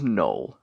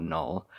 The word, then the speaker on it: Knull: This is the Marvel Legends Venom and Marvel's Knull.